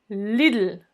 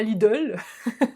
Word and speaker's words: Lidl: deutsche telekom deutsche telekom lille lille oui tu as bien entendu c'est pas lidl à la française lille leader tu arrives